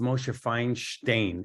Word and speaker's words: Moshe Feinstein: know if we look at RAV Moshe finds Moshe Feinstein Moshe Feinstein was actually um born I think in Lithuania and he was called Moshe it's actually pronounced mosheifying stain so a fine stain is a is a